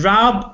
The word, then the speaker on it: Rab: And Rab, it's not Rob, it's Rab, R-A-B. It rhymes with Fab.